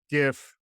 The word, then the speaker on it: GIF: You are not allowed to use the GIF. It's a GIF. I thought we talked about this. I'm a hard G. You're a hard G kind of guy.